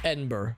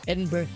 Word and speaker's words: Edinburgh: honestly so edinburgh okay so you say you don't like there it's like just three syllables edinburgh a danger like so you do like you kind of like wilt a little like edinburgh and then kind of trail off a little and purple burglar alarms